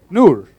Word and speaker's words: Noor: one more time अच्छा है वो नूर Noor. No, now you're saying it like proper.